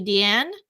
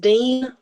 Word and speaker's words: Deane: guest we have Ashley deian is that how you say it oh it's pronounced Dean like you should just drop the e and oh okay Dean